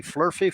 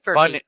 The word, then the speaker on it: furphy: You have any flurfy for it? You'd have to listen to last week's show. Wasn't it last week? Furphy. Yeah. Furphy. Yeah, he's not saying it right. Furphy.